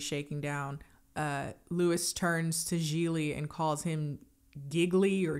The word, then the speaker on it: Gigli: My name is pronounced Gigli. It rhymes with really.